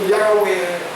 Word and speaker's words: Yahweh: And then you say where with a pen and end like where, like that. So Yahweh, that's how you would say it.